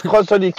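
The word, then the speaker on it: xxxHOLiC: Et ça se prononce Crossolic, mais.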